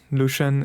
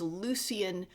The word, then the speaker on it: Lucian: Lucian is uh an angel sent down by God. Oh, I was uh I was mispronouncing it as Lucian, but it's Lucian.